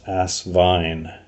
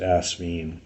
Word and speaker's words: Asvine: a clue to people how to pronounce ass Vine as opposed to the frequently used as mean but anyway they've decided